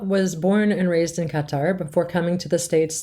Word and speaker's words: Qatar: Is it Qatar or Qatar? In Arabic, it's Qatar, so none of the syllables exist in the English language. This is why it's always difficult to kind of standardize it as a Qatar or Qatar or whatever rolls more naturally in your tongue.